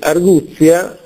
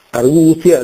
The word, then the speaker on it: arguzia: grafia ma in realtà è una geminata una doppia chiunque lo può vedere nell'ottimo dizionale italiano il Zingarelli quindi arguzia questa Z è raddoppiata Letizia è raddoppiata mestizia è raddoppiata si sente a volte pronunciato male arguzia Letizia mestizia A proposito di consonanze